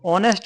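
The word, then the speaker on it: honest: तो याद रखो, ऑनेस्ट में जो साउंड आ रहा है किसका आ रहा है, इसमें एच साइलेंट है।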